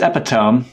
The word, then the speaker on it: epitome: Not how you pronounce epitome.